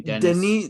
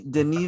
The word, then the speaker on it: Denis: I keep saying Dennis. Denis Villeneuve.